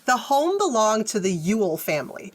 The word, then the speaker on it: Ewell: yeah so um the home belonged to the Ule family it's spelled weird it's spelled ew e e l l but it's pronounced Ule like U like like a Ule log or